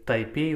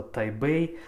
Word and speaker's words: Тайбэй: То же самое Истанбул у нас, это, естественно, Стамбул, и Тайпей у нас это Тайбэй.